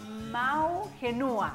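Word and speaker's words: Ma'u Henua: Bueno, presidente de la comunidad Mau Genua. ¿Lo pronuncié bien?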